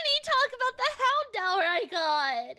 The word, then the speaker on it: Houndour: I need to talk about the Houndour I got. Houndour?